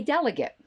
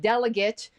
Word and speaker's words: delegate: this i realized that the word delegate is spelled the same but pronounced differently than the word delegate the emphasis is on a different syllable and we all understand